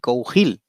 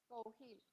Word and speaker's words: Cougil: Cougil, Cougil, ¿ahí me sí, escuchas? ahí te oigo un poco bajo. A ver, repite. Cougil, Sí, Cougil.